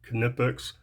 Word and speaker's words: Knipex: And yeah, I guess that's how it's pronounced, with a K, Knipex.